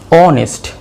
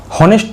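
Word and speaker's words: honest: তাহলে আমাদের কিসের মতো উচ্চারণ হলো? আয়ের মতো। আমি কি বলেছিলাম? অ বা আ। তারপরটা কি? অনেস্ট, অনেস্ট, অনেস্ট। হনেস্ট তো আমরা বলবো না, আমরা কি বলবো?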